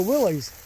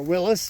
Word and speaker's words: Willys: Oh, this is a Willys. Or Willis, depending on how you pronounce it.